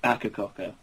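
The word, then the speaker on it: Akercocke: You said, I hope I say this right, Ackercoke? Or Ackercock? I think it's pronounced Ackercocker. Okay, there you go.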